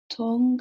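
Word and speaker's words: Thong: Tong, I think. T-H-O-N-G. Yeah. Do you want me to... Okay. Yeah, it's... The H is silent, so you pronounced it correctly.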